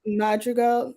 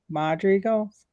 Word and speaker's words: Madrigal: Is it what, how do you pronounce the do you remember how to pronounce the family name? I think it's Madria Madrigal, like Madrigal that. Madri Madrigal. Madrigals?